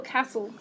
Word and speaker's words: Castle: Do you prefer to say castle or castle? I always say castle. I'm a long A person, definitely.